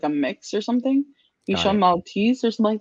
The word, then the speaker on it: Bichon: Bichon? Bichon, yeah.